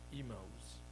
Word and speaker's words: Emmaus: If you remember the disciples of Emmaus. Yes, you pronounce it that like that?